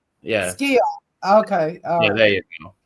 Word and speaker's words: Sciarra: No, it's Sciarra. Yeah. Sciarra.